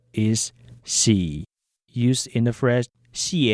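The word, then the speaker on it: 四: Moving on, the number 3 is pronounced sa, as in sa e lang for 3 people. The number 4 is xi, used in the phrase xi e lang to mean 4 people.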